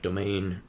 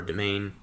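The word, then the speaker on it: demesne: I think it's pron pronounced like domain or domain even though it doesn't even look close to that.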